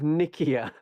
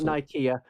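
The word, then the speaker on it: Nicaea: up oh because the Council of Nikia on Ikea depends how you want to pronounce it this is where a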